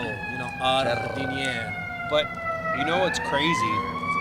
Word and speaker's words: giardiniera: I You love have to let the R roll, jardiniera.